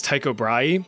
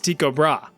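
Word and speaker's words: Tycho Brahe: Now, trust me, for the life of me, I really want to pronounce this guy's name as Taiko Bry, but apparently the proper Danish pronunciation is Tiko Bra.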